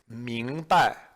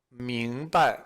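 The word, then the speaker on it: 明白: So the word is 明白. 明白. And you'll notice that the second syllable is a neutral tone.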